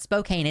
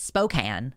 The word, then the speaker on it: Spokane: that it's yeah no it's not Spokane it's Spokane Spokane Washington here's the thing about